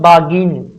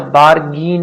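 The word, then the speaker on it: bargain: उसके बाद में बागीन, अच्छा बारगीन नहीं पढ़ेंगे, बागीन, BA। अब देखिए RR है ना, वॉल के बाद में यदि R आता, तो मैं बहुत बार ये इसके बारे में बता चुका हूं कि यदि AEIOU प्लस R है तो R साइलेंट रहेगा, ठीक है।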